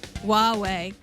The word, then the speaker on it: Huawei: Did I pronounce Huawei right? Huawei.